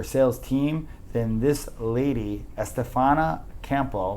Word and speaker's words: Estefania Campo: If you're a female looking to get in, sales advice and really just train your sales team, then this lady, Estefania Campo, right?